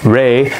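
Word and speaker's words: 礼: Number four, the bow called Re has the same pronunciation with Re, which means spirit, and with Re, which means zero.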